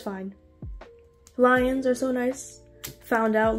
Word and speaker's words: lyOn: other but it's fine lions are so nice found out literally the day of the concert that is pronounced lion and not Leon like the name but it's okay you